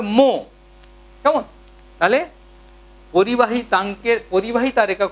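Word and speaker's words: mho: দেখো ও এইচ এম যার সেটাকে উল্টে দিলে হবে এম এইচ ও, তাহলে উচ্চারণটা হবে মো।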